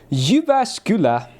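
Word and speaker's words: Jyväskylä: So, we were headed to Yubascula.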